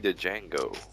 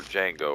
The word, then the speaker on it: Django: I never did go see Django or Django orever that was was so good didn't see that either the D is silent it was really good